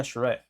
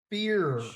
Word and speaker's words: Shafir: We have Harley Cameron versus Marina Shafir. Or how do you say her? Did I say Marina her? Shafir.